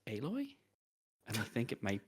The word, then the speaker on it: Aloy: Which PlayStation game features a protagonist named Aloy?